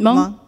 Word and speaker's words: Hmong: Hmong.